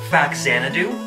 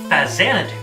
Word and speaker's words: Faxanadu: did you know that it's not actually pronounced faxanadu it's pronounced fa zanadu it's a port Man